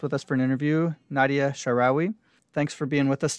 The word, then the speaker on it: Nadia Shaarawi: have a guest with us for an interview, Nadia Shaarawi. Thanks for being with us today. Thank you.